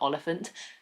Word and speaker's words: Oliphant: It's like elephant, but Oliphant. Just as like a little reminder to myself, it sounds like elephant.